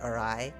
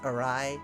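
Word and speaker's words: awry: of a problem when I read words like orai which is a w r y so like or but yeah actually in English it's pronounced arai because English is weird you go back and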